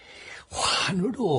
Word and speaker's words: 환: 한자로는 같은 원이지만 환으로 한다. 예, 카카. 원래 환은 둥글다는 뜻으로 쓸 때는 원이지만 돌아간다는 뜻으로 쓸 때는 환으로 발음됩니다.